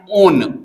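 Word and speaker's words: -one: ओ एन ई ओन इसको को pronounce करोगे वन नहीं कहोगे ये वन नहीं है ओन है ओन कीटोन पढ़ रहे हो ना ओन लो यहां पर हिंदी में भी लिख देते हैं ओन ओन इसका प्रोनाउंसिएशन होगा वन नहीं कहिएगा क्योंकि वन का भी स्पेलिंग ओ एन ही होता वन नहीं ओन चलिए तो अब इसका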